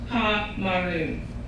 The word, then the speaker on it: Pomeroon: My mother is from the forests of Guyana and the banks of Pomeroon, pronounced Pa-Maroon.